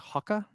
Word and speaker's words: Hoka: what's also interesting uh whenever British people say Hoka they say it like hakka have you ever heard British people say Hoka they don't say Hoka they say Haka and I'm just like